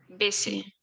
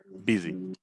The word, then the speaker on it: busy: Ship, middle, live, minute, busy, women, kick, miss. Beautiful. Just one little thing. This S is pronounced as a Z. Busy.